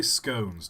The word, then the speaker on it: scones: Uh, don't pronounce scones like that, Todd. Do not I say scones, not scon.